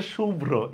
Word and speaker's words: শুভ্র: আচ্ছা রাইট অ্যান্সারটা হচ্ছে শুভ্র, এই নামটার উচ্চারণটা ভুল। এইটার উচ্চারণটা হবে হচ্ছে এরকম, তালব্যস্য রস্যকার ব হসন্ত ভ রফলা ওকার। ঠিক আছে, শুভ্র।